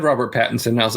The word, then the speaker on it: Pattinson: but they gave us a trailer of Robert Pattinson, the Batman. Did I say his name right? Yep, Robert. Yeah. What did you say So last time? I don't know, Patterson. Robert Paddington.